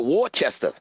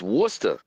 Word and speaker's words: Worcester: Now I just wanted to say that cuz I called it Warchester but it's not Warchester. It's Worcester.